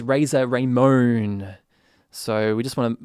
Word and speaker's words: Razor Ramon: so he complained that i pronounced the wrestler from the 1980s as razer raymond where it turns out thanks to tj that his name is razer raymond so we just want